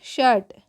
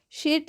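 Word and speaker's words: shirt: बोलते हैं इसी वज इसी रूल की वजह से आप शर्ट को शीट नहीं बोलकर शर्ट बोलते हैं क्लियर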